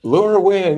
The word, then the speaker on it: LoRaWAN: I don't know how this is pronounced. Yeah. LoRaWAN.